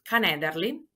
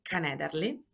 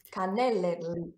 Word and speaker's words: canederli: c'è un piatto in particolare che si chiama canederli i canederli Cannelle hai mai sentito canederli Ok è un po' difficile da pronunciare Sì i canederli sono una specie di